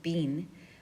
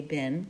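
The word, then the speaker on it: been: with had beam remember this word is technically pronounce beam I know most native speakers will say bin but that's not right verb ing and because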